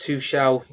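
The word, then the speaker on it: Tuchel: It's pronounced two shell.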